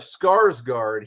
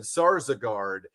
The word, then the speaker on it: Skarsgård: I mean, instead of Skarsgård, he said Sarsgaard, and you would have just thought that that just meant.